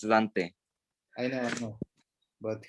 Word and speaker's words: Dante: but like english people like in america they do say dante yeah and that's wrong it's dante i know i know